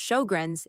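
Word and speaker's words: Sjögren's: Sjogren's, pronounced show-grins, is an autoimmune condition.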